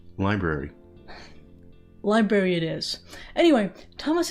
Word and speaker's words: LBRY: and I'm here to talk about LaBrie it's pronounced library sera but it's spelled lbr why I know but it's pronounced library library it is anyway Tomas is here with